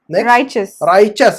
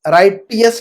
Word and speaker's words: righteous: राइचस। इसका pronunciation क्या है? राइचस। राइटियस नहीं बोलना है, टी को साइलेंट पढ़ना है हमने। टी को क्या करना है हमने? साइलेंट कर देना है। तो हम कहेंगे राइचस।